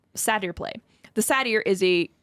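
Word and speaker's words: satyr: It's it's pronounced sadier or satier or something.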